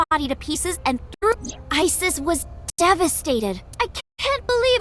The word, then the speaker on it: Isis: horus's mom is named Isis but an ancient Egyptian it's pronounced closer to ISA or ASA H how do I